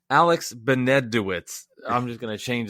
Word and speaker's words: Benesowitz: I said it right, Benesowitz.